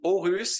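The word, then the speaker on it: Aarhus: originally from Switzerland that the double A in Danish is pronounced like an o right that's right so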